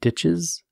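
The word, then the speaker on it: Dyches: got it right now we have dishes d-y-c-h-e-s ditches and boyd's 2017 paradigm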